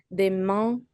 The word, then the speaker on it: demain: En Italie demain matin. Do you pronounce that N or is it B matin? But it's actually the same nasal sound right here.